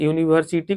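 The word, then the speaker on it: university: एक हो गया आवर तो यूनिवर्सिटी को जब प्रोनाउंसिएट कीजिएगा तो य का साउंड आता है तो इसके पहले आर्टिकल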